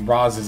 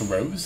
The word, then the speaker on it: Roz: array and then activate Roz's effect uh Rose Ross I'm still not sure I think it's Roz because it's got a z but apparently it's German it's actually still pronounced Rose so but in any